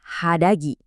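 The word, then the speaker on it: 肌着: Dibacanya hadagi.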